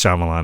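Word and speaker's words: Shyamalan: __ ] I'm like shamalama dingdong was doing I know how to say his name I just I just like to say it goofy it's shamalan I know that uh but this is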